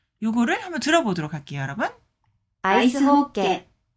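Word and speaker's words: アイスホッケー: 아이스 호케. 네. 아이스 호케. 네, 아이스 하키가 아이스 호케 이렇게 일본식으로 약간 발음을 거의 그대로 받아들여서 요 문자로 지금 기록을 하고 있죠.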